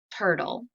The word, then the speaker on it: turtle: There's a consonant before the letter L, and we do not hear that final E. Turtle. We just hear that L sound.